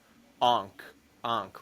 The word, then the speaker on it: ankh: Ryan sees somebody die, and then he starts seeing the Ankh, right?